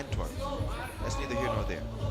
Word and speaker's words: Antwerp: Somebody told me the way you pronounce it is Anne. In English, you would say Antworp.